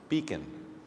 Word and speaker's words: BHECN: there's a good reason the behavioral health education center of Nebraska's acronym is pronounced beacon by connecting students at